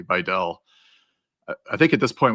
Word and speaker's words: Vidal: Uh and it's I I looked it up. It's Videll. I'm gonna do try to do a better job of pronouncing names. I I know it's you know deep in my career here of butchering people's names but you know listening to Al Michaels say it I guess correctly Vell I think at this